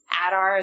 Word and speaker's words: Adar: Just for one thing, he survived all of those orcs, and I that was just absolutely crazy to me that Adar, is that how you pronounce his name?